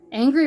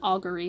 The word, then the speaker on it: Augury: in need of heroes oh angry raven okay it's actually pronounced augury but you know it